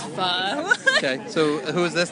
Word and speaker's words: pho: not faux, it's pho.